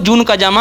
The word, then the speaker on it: जून काजामा: पता चल गया है, जिसे हम गेम खेलते टाइम जन काजामा कहते थे। गाइस, वो जून काजामा है।